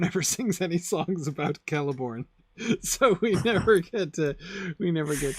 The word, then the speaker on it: Celeborn: put the stress on the syllable with the hard C. Nobody says Celeborn. No. Galadriel's husband? I mean, technically, if the stress in Elvish names is always on the second to last syllable, then it should be Celeborn.